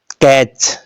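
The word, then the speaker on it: catch: क्या हुआ साइलेंट हुआ अब देखिएगा कैच लास्ट में क्या है टी सीच तो टी क्या हो गया इसके अंदर साइलेंट हो गया देखते अगला रूल यू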